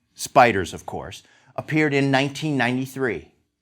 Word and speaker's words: SPDR: traded ETF was the Standard and Poor's 500 depository receipt these SPDRs pronounced spiders of course appeared in